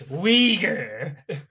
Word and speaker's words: Uyghur: There's no I in Uyghur. It's Uyghur. That's how you say it.